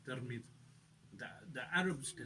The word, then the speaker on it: Tirmidh: born in, which is Tirmidh. There's other ways of pronouncing this. Tirmidh as well. In Farsi they say Tirmidh. The Arabs they say Tirmidh, and it's in Turkmenistan and north of Iran.